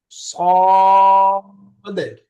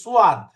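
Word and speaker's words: صاد: এই অক্ষরগুলো আমরা অনেক সময় বলি সোয়াদ। সোয়াদ বাংলা উচ্চারণ লেখা থাকে দন্ত স অকার অন্তস্থ আ আকার দাল সোয়াদ। আসলে এরকম না, উচ্চারণটা মুখ সোজা থাকবে, ঠোঁট বাঁকা হবে না। স স সদটা মোটা করে সদ এরকম।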